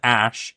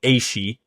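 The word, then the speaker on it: Ashe: he names him Sion Ash. Yep. But as we know with the pronunciation of Aeons, it should be 2 syllables, so it'd actually be Sion Ashi.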